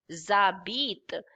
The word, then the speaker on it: habitent: ent, but we don't speak that ent, so it will be habit only. Habit. But this is S and this is silent H, so it will be Z.